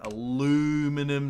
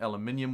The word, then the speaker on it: aluminium: Do we have aluminum, not to be confused with aluminium, which is how you correctly pronounce it?